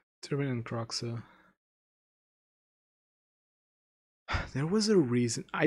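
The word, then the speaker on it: Kroxa: I say Croxa because it's similar to how I say it in Portuguese, but whatever.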